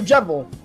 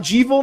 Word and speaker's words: Jevil: It comes from Devil and Jester, so it's pronounced like Devil, but with a J. Oh, so Jevil, not Jevil, not Jevile, Jevil.